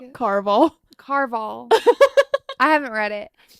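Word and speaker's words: Caraval: Carnival. It's Carval.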